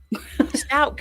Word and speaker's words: Stauch: Also, we've been saying her last name wrong this whole time. It's Stauch. Stauch, yeah.